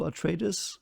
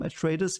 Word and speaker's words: Atreides: I will call them Atreides, even though they are probably pronounced Atreides, which is the Latin version, I think, because you, if there is an EI, you pronounce them separately, you know?